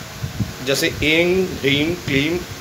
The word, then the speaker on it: ह्रीं: ह्रीम महालक्ष्मी का बीज मंत्र, उसमें जो बिंदी ऊपर है उसको मकार में बोला जाएगा, ह्रीम। और क्ली के ऊपर जो बिंदी है उसको भी मकार में बोला जाएगा, क्लीम। एंग, ह्रीम, क्लीम, चामुंडा यई विचे।